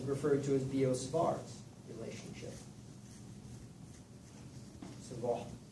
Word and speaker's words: Savart: Savart, how you pronounce it in French.